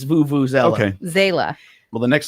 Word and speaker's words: vuvuzela: can't turn off now all right vuvuzela voo voo zella okay okay so i wouldn't move that but it's vuvuzela okay zela well the